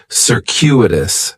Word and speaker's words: circuitous: on with the pronunciation in the first syllable that c is going to have more of an S sound circuitous the stress is going to be on that second syllable and that CU is kind of like you're saying the letter Q circuitous circuitous circus is talking